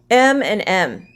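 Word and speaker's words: M&M: which is really delicious m and m it has an m the letter m but it is pronounced with a vowel sound e m m so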